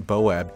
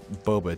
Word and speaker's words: boba: I'm gonna start off real quick by fixing some mispronunciations of mine. First and foremost, it's not Boab tea. I don't know what I was saying there, it's Boba tea.